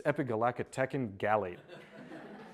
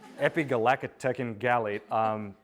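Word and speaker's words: epigallocatechin gallate: word that I challenge all of you to pronounce with me. It's Epigallacatechin Gallate. Epigallacatechin Gallate, EGCG.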